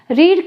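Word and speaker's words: read: रीड का आप ध्यान रखिए, लिखी तो एक जैसी जाएगी तीनों फॉर्म, लेकिन बोलने में थोड़ा फर्क है, प्रोनाउंसिएशन डिफरेंट होगा। फर्स्ट फॉर्म रीड होगी, सेकंड थर्ड फॉर्म आपको रेड बोलना है। रेड कलर जो होता है ना, रेड कलर लाल, वैसा प्रोनाउंस करना है, रीड, रेड, रेड, ठीक है।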